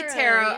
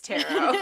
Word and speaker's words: tarot: from French because it's pronounced like a French word where you just cut off the end and pretend it doesn't exist uh Italian Italian yeah